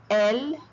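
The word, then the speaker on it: elles: And elle, I do not pronounce the S, they. So listen to them once again. Je, tu, il, elle, on.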